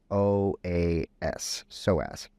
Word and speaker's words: psoas: what it is it's it's spelled p-s-o-a-s so as there's a p in there tricky but and this is